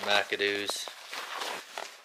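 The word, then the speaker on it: MacAdo's: We just got done having some dinner food at McAdoo's. Even though it's spelled M-A-C-A-D-O apostrophe S, they still pronounce that do's.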